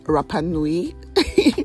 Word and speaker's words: Rapa Nui: It is pronounced Rapa Nui. It is named after Easter Island in the Pacific, and it was brought